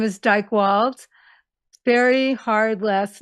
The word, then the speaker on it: Dychtwald: d y I know a lot of spell it I.E not me and the last name is Dyke wals very hard last name uh D like David